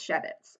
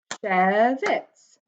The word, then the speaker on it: Schewitz: My last name is Schewitz, so I'm going to clap the syllables I hear in my last name. Schewitz, 2.